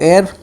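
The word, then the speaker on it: heir: इसमें H silent रहता है। इस वजह से इसको एयर पढ़ते हैं। मतलब कि एयर बोलते हैं।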